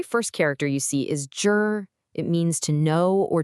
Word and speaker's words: 知: So the very first character you see is jur.